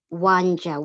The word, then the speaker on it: Wanja: Yes, and as a matter of fact, my traditional name is Wanja, which is spelled WANJA.